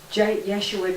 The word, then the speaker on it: Yeshua: Yeshua did that, and of course that's the Hebrew pronunciation of Jesus.